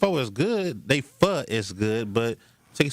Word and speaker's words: pho: Fo p h o fo. It's not pronounced fo. It's spelled like that, but it's not pronounced like that. Fu.